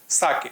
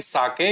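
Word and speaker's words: sake: हैड ए कप ऑफ साके नाउ व्ट इ साके हम इसको प्रोनाउंस करेंगे साके या फिर साकी साके एक जापानीज ड्रिंक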